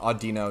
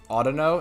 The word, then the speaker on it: Audino: spelled differently than but i also pronounce the pokemon audino not autuno and i will always do that got him i probably